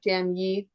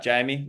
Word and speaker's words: Jamye: It's Jamie, isn't it? It is, Is that how Jamie. you pronounce it, Jamie?